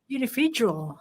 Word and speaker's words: Unividual: segue, because I wanted to move into the Unividual. Am I saying it right now? That's it. Simple as that. Unividual.